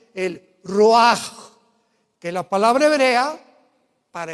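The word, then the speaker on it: רוח: El roj, que la palabra hebrea para espíritu.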